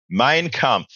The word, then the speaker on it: Mein Kampf: Mein Kampf.